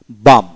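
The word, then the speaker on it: balm: তারপর আসেন বি এ এম, বাম, বাম। তারপর আসে চক, সি এইচ এ কে, চক এল এর উচ্চারণ হবে না, চক।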